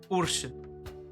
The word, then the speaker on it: Urson: That's their big, and that's like Ursun, like Urson, but they would pronounce it like Ursun.